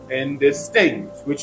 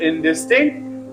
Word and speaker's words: indistinct: pronounced where it is soon that is third syllable for example his plan was indistinct which means unclear his plan was indistinct I use the adjective in distinct predicatively so I pronounce it in its own